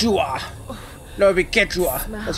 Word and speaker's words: Quechua: No, it'd be Quechua. That's how you pronounce that.